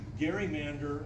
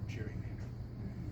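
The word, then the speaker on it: gerrymander: a very crazy fashion it was originally Gary Mander and at some point I don't know when that g became a soft G and that's where we get the term Cherry Mander so only three of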